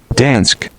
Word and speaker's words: Dansk: or dank designs denmark is it dansk or danksk i'll pop up my little friend up here so we'll all know dansk okay that's how you say it so beautiful i